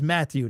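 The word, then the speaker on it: Mathieu Betts: hear him mat two other places but it's Matthew that's how you pronounce his name Matthew Betts stock up sacked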